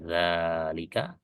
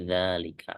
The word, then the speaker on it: ذلك: masalah Ya tidak masalah yang ini bacaannya ya dalika Yang ini juga dalika artinya dua-duanya Benar Pakai fathah biasa silakan pakai